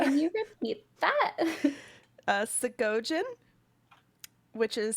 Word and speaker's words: Segojan: Uh, Siggoan, which is spelled s e g o j a n.